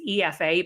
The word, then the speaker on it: Aoife: So I tell people to read it backwards. So it's pronounced as if it's EFA, but it's spelled AOIFE.